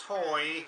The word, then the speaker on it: Hoy: Yeah, it's Hoy, like the old man of Hoy, Hotel Oscar Yankee, and we're down in the southeast corner, located right on the beach here, Frank.